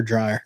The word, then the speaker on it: Dreer: Is it Dreer or Dryer? Dreer.